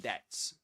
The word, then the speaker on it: debt: And did you know that debt that that be silent in debt? Yeah, it is silent.